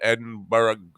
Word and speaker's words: Edinburgh: and Edinburgh, not Edinburgh.